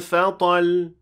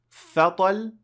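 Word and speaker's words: فطل: فَإِنْ لَمْ يُصِبَهَا وَابِلٌ فَطَلْ. Now, it is not فَطَلْ, it is فَطَلْ. The second part of the word is stressed, has نبر.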